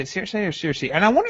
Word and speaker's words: Cersei: He said, we, quote unquote, we need to talk about the way Caleb chooses to pronounce Cersei. I've always said Cersei.